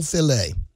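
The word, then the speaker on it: filé: what it was and it's called gumbo filet yeah it's it's spelled file f i e but all that really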